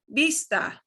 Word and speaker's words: vista: this these two on both sides both columns will sound make the same sound so the first one is vista vista of you we have